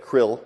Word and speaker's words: CRL: Real certificate people pronounce it Krill, okay.